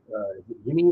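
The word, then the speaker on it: Yimi: like AJ Puck um I guess Yim or Jim I think they pronounce it as J even know it's the Y Garcia from these blue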